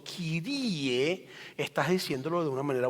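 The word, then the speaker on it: κύριε: de honor y cuando tú dices kirie no kirio sino kirie estás diciéndolo de una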